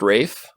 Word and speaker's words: Ralph: I didn't know it ralph is pronounced Rafe Rafe Fiennes that's cool Voldemort